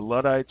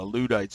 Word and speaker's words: Luddite: still see it today they're called the luddites or the ludites is how the brits pronounce it and the video explains